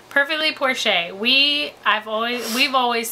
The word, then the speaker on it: Porsche: Yeah, and for those that don't know, it's pronounced Porsche. Perfectly Porsche.